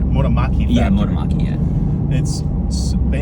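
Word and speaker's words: Motomachi: made in the GR Motomaki factory, did I pronounce that right? Motomaki factory.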